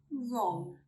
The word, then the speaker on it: wrong: We do not pronounce the letter W when it comes before an R at the beginning of a word. Let's see some examples. Wrong, wrong.